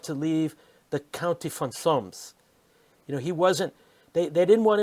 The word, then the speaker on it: Solms: Braunfels in the county of Solms.